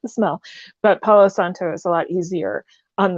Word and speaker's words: Palo Santo: Let me say it with a little more accento. This is a Palo Santo stick.